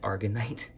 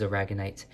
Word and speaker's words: aragonite: is a ragged night I actually said it wrong in the Instagram live I think I said argonite but this is aragonite and I'm she decided